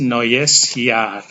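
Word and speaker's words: Neujahr: ada dua vokal rangkap E dan u dibaca oi noes di sini ada huruf j dalam bahasa Jerman ini disebut dinamakan Yod dan dibaca seperti huruf y dalam bahasa Indonesia dibaca Yar ini artinya tahun Ain gles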